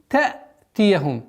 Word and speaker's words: تأتيهم: Хамза с сукуном одна из самых проблематичных звуков, для произношения которого нужно немножко максимально внимательность. Та'тияхум. Она не уходит на гортань. Если на гортань будет уходить, будет та, будет уходить на звук айн, что является ошибкой.